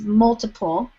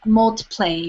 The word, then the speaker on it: multiple: was pronouncing a word maybe it was multiple but she was saying multi-play or something like that she she just so